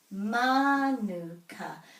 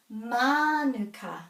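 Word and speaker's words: mānuka: Manuka. So the emphasis is on the word, on the syllable with a macron. Manuka, not manuka. If it was manuka, this would have a macron, but it doesn't.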